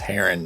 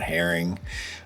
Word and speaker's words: heron: Also, I know it's pronounced heron, not herring. I just like to joke around because I know a ton of people that say herring instead of heron.